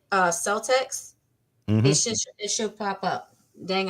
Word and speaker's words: Celtx: You can use a program called Celtics. Now, a lot of people, they pronounce it differently, but it's spelled CELTX. Like it looks like Celts, but it's CELTX. And you can Google it, Celtics.